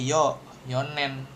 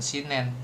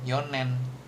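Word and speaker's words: 四年: Kalau tahun dia pakai yoonen gitu, bukan sinen, Yonen atau empat orang Yonin seperti itu.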